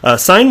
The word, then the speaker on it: Xign: I haven't heard enunciated, but it's spelled Xign, so I'm assuming it's Sign.